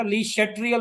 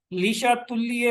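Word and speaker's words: Le Chatelier: वो कहते थे ये वर्ड जो है इसकी जो करेक्ट प्रोनाउंसिएशन जो है वो है लीशा तुल्य प्रिंसिपल।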